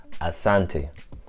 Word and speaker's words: asante: big toys prices so you want to say asante asante to say thank you very much asante sana and you realize